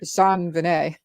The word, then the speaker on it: JonBenét: pronouncing the name that it's pronounced with a French accent, Right. JonBenét.